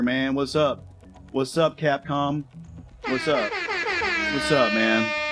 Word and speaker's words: Capcom: Capcom Cap can never say it right, bro. Capcom I always want to say con like it's a convention. Capcom, can't go wrong, bro.